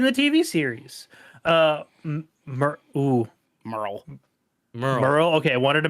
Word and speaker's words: Merle: me appeared in the TV series uh oh Merle Merle okay I wanted to make sure I pronounced that right I was like that e